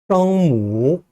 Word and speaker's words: 声母: 성모와 운모, 중국어로 읽으면요. 성무, 성무, 그 다음에요. 윈무, 윈무 이렇게 발음을 합니다.